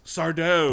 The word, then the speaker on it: Sardo: That's Sardo. No, mister. Accent on the dough.